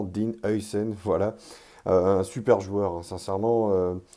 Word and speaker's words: Huijsen: face au Pays-Bas et on sait qu'il est d'origine néerlandaise he d'où la prononciation. C'est pour ça que j'essaie de le dire correctement. Dean Een voilà un super joueur